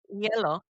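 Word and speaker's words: hielo: Yellow. Yeah, but the H is silent.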